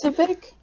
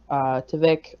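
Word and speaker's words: TviQ: I recognize Zippa, Logix, and I can't pronounce the other guy's name. But it starts, TVQ? yeah, that guy. I Tavik. recognize him. Is it Tavik? It's Tavik. Oh. Yeah, I think you're right. Tavik!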